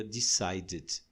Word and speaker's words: decided: Finalmente, se a terminação do verbo for naturalmente em T ou D, a gente acrescenta uma outra sílaba. O caso de want já termina em T, então vai ser wanted. Se for decide, o último som é D, decide. Então você pronuncia decided.